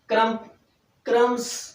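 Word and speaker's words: crumbs: तो दे sparrows did नॉट ईट क्रम्स, क्रम्स जो कि साइलेंट रहता है, वहां पर बी साइलेंट हो जाएगा।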